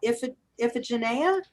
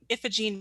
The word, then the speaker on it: Iphigene: And we've got Iphigenia. Did I pronounce that correctly? Yes, we have Iphigene Murphy. We also Iphigene. have Priscilla, so it's Iffy Murphy on the list.